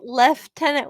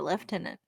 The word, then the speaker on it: lieutenant: say so they say I just left tenant where's the F in that word there's not and they don't even spell it that way they spell it Lieutenant like we do we yeah they spell it the way we do and they prounce it left in it but also I mean